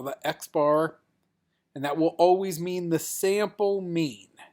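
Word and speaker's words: x̄: That's X with a little bar on top of it. And that's how we pronounce that. We call that X bar.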